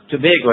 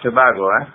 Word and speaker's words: Tobago: the I left Trinidad and Tobago uh it's pronounced Tobago not Tobago we Tobago Tobago that's right uh I went